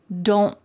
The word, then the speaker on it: don't: more likely to hear don't. My tongue is at the top of my mouth, like it's going to make that T shape, but I just don't let the air come out.